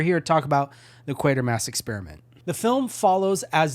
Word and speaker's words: Quatermass: Professor Quatermass is like the main character of this movie, so you obviously know how to pronounce it. So it is Quatermass Experiment.